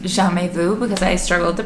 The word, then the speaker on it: Jamais Vu: Next is Jamais Vu, which I now know is pronounced Jamais Vu because I struggled to pronounce it last time.